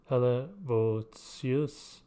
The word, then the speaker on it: Helvoetsluis: It is pronounced Helvoetsluis, Netherlands.